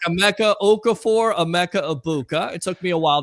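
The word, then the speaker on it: Emeka Egbuka: A Mecca Ibuka.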